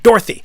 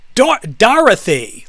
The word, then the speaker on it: Dorothy: us because she's like, my name's not Dorothy. It's Dorothy, like three syllables. And all of the rest of us grew up with like Dorothy is like two syllables, more or less. It's like 2.5 at best.